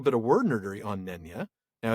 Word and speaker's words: Nenya: We do have, though, a little bit of word nerdery on Nenya. Now, it is from Quenya, which rhymes with Nenya.